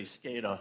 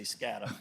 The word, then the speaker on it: SCADA: It dep It depends where you are in the country. I always say SCADA. A lot of people say Scattera.